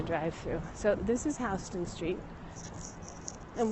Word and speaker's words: Houston: through so this is houston street and we say houston not houston even though it's spelled the same and it's one of